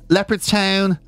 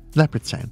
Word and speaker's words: Leopardstown: Leopardstown, it's not about the big cats, of course. No. Some people call it leopards. I suppose leopard. It's all about how you're saying leopard, really. Leopardstown.